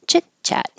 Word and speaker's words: chitchat: voiced smooth sailing chitchat you don't hear the T on either one chitchat what for you don't